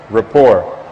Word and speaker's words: rapport: for us to know, known as rapport. Rapport. R-A-P-P-O-R-T. Rapport. And rapport basically is, that's really how it's spelled, by the way.